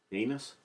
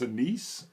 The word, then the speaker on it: anise: Anus? No. No. Just the black licorice. Is that anus? I think it's anise would be the way that's pronounced.